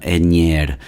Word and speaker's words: Aigner: be would have been the pronunciation would have been something along the lines of uh enyer oh and i'm sorry something along those lines uh in french i'm assuming so it'd be